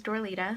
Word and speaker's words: Dorlita: makeup video ever um my name is door Lita if anybody wants to know how to pronounce my name that's it um I decided I